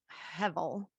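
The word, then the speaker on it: הֶבֶל: but um it's pronounced hevel it's h-e-b-e-l but it's pronounced hevel and what it really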